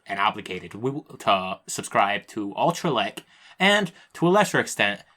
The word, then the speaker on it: AllTraLec: I pronounce it like lec to be like the stress. AllTraLec.